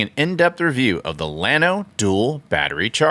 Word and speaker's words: Llano: it is pronounced Lano a lot of Texans pronounce it Lano however the original word Yano means like a grassy plane in the southwestern United States it's a Spanish word so not sure if